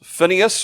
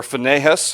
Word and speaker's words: Phinehas: And the two left over was Phinehas, or Phinehas, however you want to pronounce it, and Ithamar.